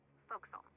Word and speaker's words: forecastle: of a sailing ship, but it's pronounced forecastle. Why is that? Try pronouncing it like an English sailor with no formal education. Forecastle. Forecastle. Over time it whittled down.